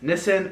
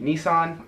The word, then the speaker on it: Nissan: Fourth is Nissan, or what we would call in the U.S., the car company, Nissan.